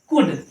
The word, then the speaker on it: could: फिर डी के पहले आए, डी के पहले आए थे, जैसे COULD, ये क्या है, कुल्ड नहीं है, कुड, इसको बोलते हैं ना हम लोग, इसका सामना अक्सर हमारा होता रहता है, कुड।